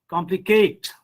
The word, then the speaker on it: complicate: Because in this rule, you just have to give stress on the first syllable if the word ends with suffixes like ate or able. Hmm. For example, complicate. We will not say complicate. You have to give stress on complicate, cultivate, educate, fortunate, indicate, separate, knowledgeable,